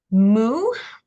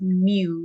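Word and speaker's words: mu: complete the V here moo not not me but moo uh is there M M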